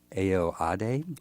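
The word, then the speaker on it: Ayoade: movie that was directed first time director Richard aoade is that how you say his name yeah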